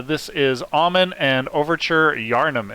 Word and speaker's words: Yharnam: is almond and overture yharnam am i pronouncing that right charnam yes yharnam i actually uh didn't explain